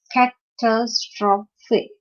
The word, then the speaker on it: catastrophe: Then catastrophe. Again, philosophy, right? It's a four-syllable word, and the stress is on the second syllable of the four-syllabic word, like intelligence, particular, catastrophe, and philosophy.